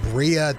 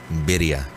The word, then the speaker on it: birria: It's not how you say it. Okay, well, tell me. Not at all. Let your Mexican side come forth. Birria. What? Birria. Birria? Birria. It's spelled B-R-I-A, right? No. It's spelled B-I-R-R-A. B-I-R-R-A. If you want to white person it up, it's birria.